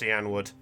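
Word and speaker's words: Cianwood: It's pronounced Cyanwood, for the record.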